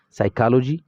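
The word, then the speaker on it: psychology: په بعضې کلماتو کې، لکه زه هم سایکالوجي، سایکالوجي کې دا پی نه تلفظ کیږي، دلته دې ته مو پام وي، سایکالوجي.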